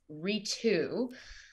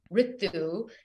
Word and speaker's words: Ritu: decades and Decades of having people anglicize my name and pronounce my name as Ritu at the age of 30 I decided that I'm going to stand in my power claim my belonging as it relates to my name and have people pronounce it the proper way which is Ritu and my last